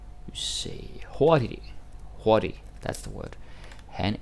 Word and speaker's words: hurtig: You say hurtig. Hurtig, that's the word. Han er ikke så hurtig. Yeah, that is a silent G. That is correct. Han er ikke så hurtig.